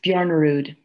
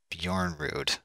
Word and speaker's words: Bjornerud: pronounce your last name it's bjorn rude bjorn rude yeah just like it's spelled i thought maybe you